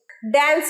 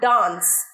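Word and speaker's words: dance: ড্যান্স নয়, ডান্স, ডান্স, বলো আমার সাথে ডান্স।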